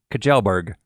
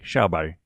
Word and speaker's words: Kjellberg: I got it okay it looks to me like it should be said Kajal burg but I know that's not correct so we listen to a Swedish person online say his name and it sounded like a shell body so that's how I'm gonna say it from now on